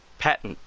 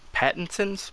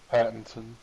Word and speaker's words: Pattinson: then here's here's something really weird okay robert patton pattinson's patterson's how do you say his name pattinson pattinson okay his batman movie the batman um